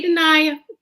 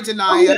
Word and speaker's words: Danaya: hogg daddy yes daddy hey deny oh i said it wrong i'm sorry danaya he's denying yeah all